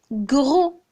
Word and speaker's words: gros: Par exemple, gros. Quel est le féminin de gros? Gros. C'est grosse. Grosse. On entend le son S au féminin. Donc, il faut ajouter un S à la fin de gros.